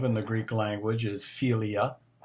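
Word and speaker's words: φιλία: form of love in the greek language is philia p h i l i a um which could be translated friendship but it you know there are friends and then they're friends um philia means a deep seated long-lasting loyal friendship the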